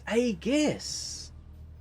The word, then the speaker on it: Aegis: It's Agus. I never knew it was Agus. I've pronounced it wrong ever since it's ever been in the game.